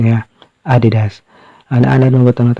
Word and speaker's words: Adidas: Actually, ang correct pronunciation niya Adidas.